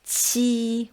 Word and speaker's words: qi: This one is ch, or as qi with a long loud sound. To remember it, pronounce ji again, then push the air out a bit harder. So it's ji, qi.